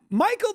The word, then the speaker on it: Michael: Michael. There is no K in the word Michael. And yet we still say it. ch and yet we pronounce it.